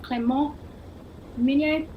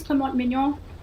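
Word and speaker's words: Clément Mignon: great close-up shot of clermont dominion excuse me for my terrible french pronunciation so it is clement mignon 23 years of age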